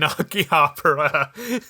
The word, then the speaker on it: Akihabara: The way they say it wrong, so because I hear it, I've been saying it wrong too. I'm like, Akihabara. That's not how you actually say it. They are saying it wrong. They're saying the B wrong.